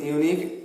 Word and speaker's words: unique: The letter U in unique is pronounced as YU, U, and the O in the one is pronounced as WA, WA, WA.